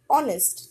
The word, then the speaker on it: honest: Here, H is consonant, but we use as a silent. We say honest, not honest. So, as we pronounce like this, O, so O we will consider here, and which is a vowel. So, always before honest, it will be an.